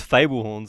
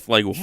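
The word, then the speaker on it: flugelhorn: and it's our thing I've been saying it wrong I thought it was Fable horns I yeah I thought it was flagel yeah Lim's right it's flagel horn FL yeah right I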